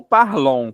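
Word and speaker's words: parlent: Mas na terceira do plural você não vai pronunciar novamente. Você vai ter que escrever o e nt, mas você não vai pronunciar. Então vai ser il parl mesmo som do singular.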